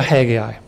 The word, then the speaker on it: Haggai: us let's go - hey guy hey guy as is pronounced in the Hebrew Haggai chapter one now we